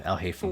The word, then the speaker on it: Alhaitham: a way into the that's how you pronounce his name, Alhaitham.